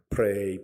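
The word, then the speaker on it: prey: 하는데 저 사냥감이라는 말은요 p 역시 플레이라고 읽어요 프레이 프레이 마귀의 복에서부터 우리가 벗어나기 위하여서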